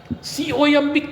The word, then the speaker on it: comb: C-O-M-B. Comb. Okay. So one letter is silent.